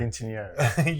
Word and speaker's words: Quinceañera: Quinceañera.